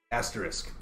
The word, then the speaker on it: asterisk: Asterisk. Very good. Yes. Asterisk. Yeah. I've heard all kinds of crazy pronunciations of this. It is asterisk.